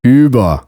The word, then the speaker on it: Über: To pronounce U umlaut, all you have to do is round your lips for U while saying E. Über, Türen.